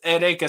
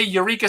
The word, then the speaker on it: Eureka: in the show and they call her ereka so for the five millionth time on the internet i'm going to tell people that it's pronounced ereca seven i guess if you want to say eureka seven i'm probably gonna know what you're talking about but that sort of